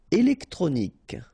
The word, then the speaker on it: électronique: Électronique, okay, so k at the end, remember, Q-U-E at the end, k.